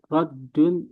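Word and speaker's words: رَدٌّ: Anu bacanya udah benar tuh. raddun.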